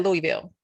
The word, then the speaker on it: Louisville: What's that, Louisville? How do you pronounce that, Jeron?